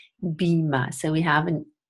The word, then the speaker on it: Beamer: and then we say Beema Beema so we have in the high front vowel as in eager and then the deep schwa Bheema so again stress